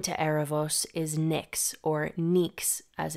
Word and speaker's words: Νυξ: And sibling to Erebos is Nyx, or Nyx as it's pronounced in Greek, the primordial goddess of night, also one of the very first gods.